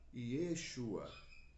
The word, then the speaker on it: Yeshua: hebraico, nessa forma abreviada, nós não pronunciamos mais Iosua, mas nós pronunciamos Yesua.